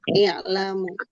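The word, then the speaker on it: اعلموا: Nah, ini cara bacanya gimana? Kasroh. Iya, kasroh ya. I'lamu. I'lamu.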